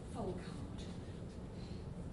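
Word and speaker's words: Folkard: And this is Charles Folcard. Folcard, again. You've got to make sure you pronounce the K. Folcard.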